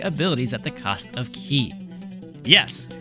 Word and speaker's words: ki: at the cost of ki. Yes, I know it is pronounced as ki, not kai, ki.